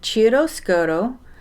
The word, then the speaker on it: Chiaroscuro: It's an Italian name, Chiaroscuro by Carol Sunday.